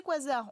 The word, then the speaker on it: quasar: Alors, ces quasars, on appelle ça quasar. Pourquoi ? Parce que c'est la contraction de quasi-stellar en anglais, donc quasi-stellaire, mais on a gardé la façon dans l'usage de le prononcer à l'anglaise.